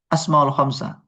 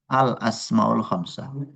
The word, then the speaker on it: الأسماء الخمسة: إذا لا تقول أسماء الخمسة ولكن الصحيح الأسماء الخمسة.